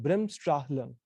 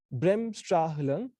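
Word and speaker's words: Bremsstrahlung: emission so the process is what is called brimstra lung it's a very handful word uh it's difficult to pronounce brem stra hilum is a german word which means breaking radiation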